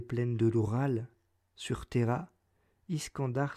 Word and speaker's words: Iskandar: de l'oral sur terra iskandar se prononcerait c'est quand dur et qu'aion ce prix